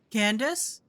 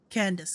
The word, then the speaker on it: Candace: Candace? Whoops, I mispronounced. Candace, got it.